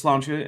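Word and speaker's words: sláinte: nice um and yeah I'm going with slancha and not the actual Irish pronunciation because um I don't know how to falize all of those sounds effectively so I'm not gonna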